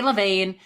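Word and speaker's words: Levain: them okay last one Levin I think that's how you say it she would be able to tell us some say Levine but I've I've heard Levin Levin cookies in New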